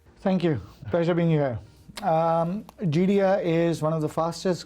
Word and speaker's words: Geidea: We're here today with Celeste Malhotra, General Manager of Geidea, and I think I pronounced Geidea correctly that time, correct?